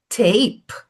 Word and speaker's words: tape: Então, você não pronuncia a vogal formando uma sílaba, você acaba no som da consoante. A gente viu house. Olha outra palavra, bak. Bake, o verbo make, outra palavra, tape.